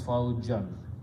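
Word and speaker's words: فوجًا: It become faujan, and whenever we paste two zabars or two fathas, we add an alif, which is not spoken, pronounced, so it becomes faujan, which is the word in the Quran.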